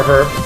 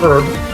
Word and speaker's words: herb: off it's running power herb which power herb excuse me the age is silent with which this item